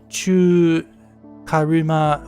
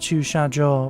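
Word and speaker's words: 駐車: So this is not this is not chu karuma whatever is just choo sha because it's a car parking lot.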